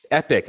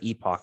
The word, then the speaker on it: epoch: So if one Epic, C Poopster, Epic, I looked it up. That's how you pronounce it. So Thank you. I appreciate that. I will forever use Epic instead of Epoch, although I, just like